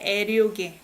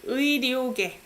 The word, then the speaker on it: 의료계: You only pronounce it as 에 when it's 의 as possessive, apostrophe s. So you don't say 애료계, it's 의료계.